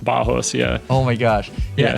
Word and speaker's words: Barros: it's weird in like in Portuguese when you have double RS it's pronounced as an H okay yes cuz my dad's Brazilian so it's pronounced bajos yeah oh my gosh